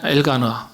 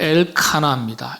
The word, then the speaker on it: 엘가나: 어머니 한나의 신앙입니다 그전에 엘가나 아버지 남편이지 사무엘의 아버지 아 엘가나 그요 그 이름의 뜻이 하나님이 창조하셨다 근데 정확한 발음은 엘카나 엘카나 근데이 가나라는 단어가 하나님이